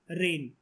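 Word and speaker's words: reign: तो पूरे एशिया में किसके रेन, अच्छा एक वर्ड होता है रेन, क्या मतलब होता है इसका? रेन का बोलते हम लोग रेन है, बारिश नहीं है, लेकिन ये लिखा तो अलग है ना स्पेलिंग।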